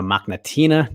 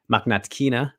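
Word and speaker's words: Mokhnatkina: my chat with marina machnatina today maknatkina gotta get the pronunciation correct there uh new pfl lightweight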